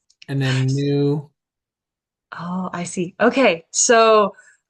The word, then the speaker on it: nu: So all you're doing in this case is pronouncing The this. Mhm. So then the third one would be nun. New.